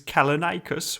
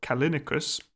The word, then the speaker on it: Callinicus: Also before we start with Salucas's episode, his epithet is Kalinikus or Kalinicus depending on how you want to pronounce it.